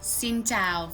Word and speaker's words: Xin chào: Hello would be Xin Chào for the north. Oh, just like you said I'm from Hanoi, so I will probably teach you the Hanoian accent is better. Okay. Yes, Xin Xin chào.